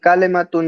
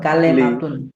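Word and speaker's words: كَلِمَةٌ: কি হয় লি যদি বল কালেমাতুন তাইলে বাংলা হয়ে যায় বাংলাতে কিন্তু যেমন একারের উচ্চারণ আছে যেমন হ্যাঁ লেখা হ্যাঁ আরবিতে এরকম একারের উচ্চারণ নাই লামজের লি বাজের বি তুমি যদি বল বিসমিল্লাহরে তুমি যদি বল বিসমিল্লাহ এরকম উচ্চারণ নাই তো কালেমাতুন কালেমা এটা হল বাংলা কিন্তু আরবিতে কালিমাতুন জাদিদাতুন এটি নতুন শব্দ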